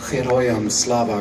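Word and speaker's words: Героям слава: Ich weiß nicht, ob jemand von euch schon mal dieses Heroyam Slava gehört hat. Ja? Slava Ukraine und dann Heroyam Slava. Das heißt, das G wird wie ein H ausgesprochen.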